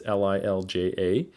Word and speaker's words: Lilja: mass back in 2017 by lila and colleagues i think that's how you pronounce it it's lilja and its high doses of